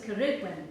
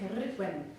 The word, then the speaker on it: Ceridwen: and her name was Ceridwen. You say that? Ceridwen. Ceridwen. Fun to say, isn't it? Ceridwen. You get to really roll your R.